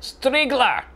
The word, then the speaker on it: Striegler: Which to me looks like Striegler, but he says Striegler. Look forward to hearing the pronunciation again. Cody. Es ist Striegler? Sie sagen Striegler? Falsch. Ihr Name wird Striegler. Ausgesprochen.